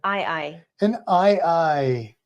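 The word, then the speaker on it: aye-aye: guess okay go ahead I I an i i and that's spelled a Yee a Yee yes like I I which is a type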